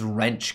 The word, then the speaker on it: Wrench: a pretty smart fella wrench capital wretch it's wrench capital pronounced like french okay cool um i